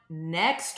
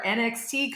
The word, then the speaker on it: NXT: Let's talk about what's going on next week. And you just told me that we've all been saying it wrong, Jared. It is not the NXT conference. It's the next conference.